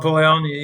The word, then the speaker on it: Polanyi: Polanyi, is that how you pronounce his name? Carl Polanyi, yeah.